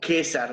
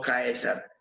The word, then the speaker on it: Caesar: Caesar se va a leer como César, no, no Caesar.